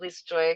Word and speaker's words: Lisa Joy: like in the beginning I like Lis Joy because it's my name and I like people to know that and then if it transitions even into like Lee or whatever you know a single syllable that's fine too over time but yeah at least Jo is good okay amazing well that's